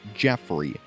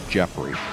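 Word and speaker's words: Geoffrey: although his name is spelled Joffrey it is pronounced Jeffrey I only know this because Fire Emblem Heroes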